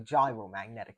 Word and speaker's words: gyromagnetic: Eventually what we were getting was the gyromagnetic ratio or the gyromagnetic ratio. It's not pronounced like the food.